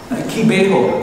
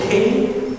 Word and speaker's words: Kibeho: Can you spell it? Kibeho. K-I-B-E-H-O.